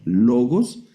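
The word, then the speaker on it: λόγος: No la vamos a traducir ahora, pero es la palabra logos.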